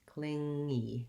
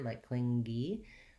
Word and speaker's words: clingy: you might notice is as you're trying to add that e a little g sound might sneak in there like clingy to avoid that just go cling and then make sure that your tongue goes from that ng shape into the e shape without dropping abruptly and inserting that g unintentionally so clingy to use